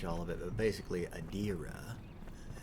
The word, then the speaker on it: Edera: of it but basically adira as it was pronounced in the cutscene um is being ripped asunder by also said large political mostly wait how did you pronounce it before adera oh okay but apparently it's adira adira um so yeah apparently